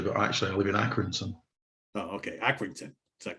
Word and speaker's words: Accrington: Well, I do say Lancashire, but actually I live in Accrington.